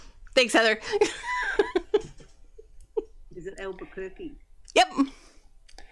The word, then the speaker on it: Albuquerque: Albuquerque. Thanks, Heather. Is it Albuquerque?